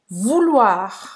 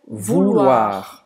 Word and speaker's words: vouloir: Então, ou em francês, a gente vai pronunciar U, como a letra U em português.